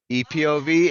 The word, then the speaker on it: EPOV: high school it's uh it could go EP or OV you can pronounce either epov and what's that stand